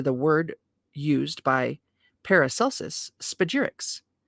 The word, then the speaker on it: spagyrics: Thus, the aspiring alchemist seeks to separate these three parts and recombine them, giving rise to the word used by Paracelsus, spagyrics, pronounced spa-gyr-ix.